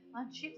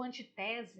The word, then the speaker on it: antítese: Antítese está aqui marronzinho aqui, ó. Antítese, para quem já se esqueceu, ou antitese, né? Cada um pronuncia de um jeito, enfim, né?